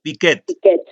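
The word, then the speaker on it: Piaget: Enseñar a plantear preguntas investigables, realizar especialmente una síntesis del proceso de generación de conocimiento científico que propone Piquet. ¿Cómo se dice, profesor? Piquet.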